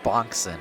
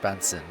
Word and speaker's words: Benson: I think you wanted to say Fred Bonkson instead of Fred Benson. A little bit of a mispronunciation there. Bonk and Benson, it kind of, not my fault. Sounds pretty similar.